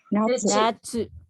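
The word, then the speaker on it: なつ: Yung pag igabate natin, let's do our best na marami pa kasi hindi makapag-pronounce ng tsu. Ito. Natsu. Tsu. Natsu. Tsu. Tsu. Tsu. Yan, assignment yan sa mga hindi makapronounce maayos ng natsu.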